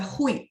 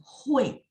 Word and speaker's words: hui: Dia kan kalau kita lihat seolah-olah baca hui gitu ya. Enggak, dia sebenarnya dibaca ya. Dibacanya begini, hui. Kalau 同学们还记得 siapa? 谁, 对吗? Saya bilang tulisannya begini. Spellingan pininnya yang benar begini. Tapi pas dibaca ada UEI. Jadi kalau ketemu pinin UI itu sebenarnya ada UEI ya.